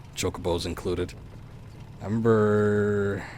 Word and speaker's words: Chocobo: always debates on pronunciations, chocobos included. I remember, I think Kokobos was popular way to pronounce it. I don't know. I just remember that once it was finally definitively known as Chocobo, there was some disappointed